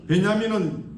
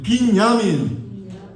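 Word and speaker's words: בנימין: 베냐민은 잉글리시 발음이고 히브리어만 해도 빈야민.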